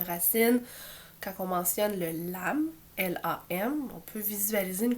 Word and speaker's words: lam: Donc, le chakra racine va être associé à la syllabe lame. Donc, lame, L-A-M.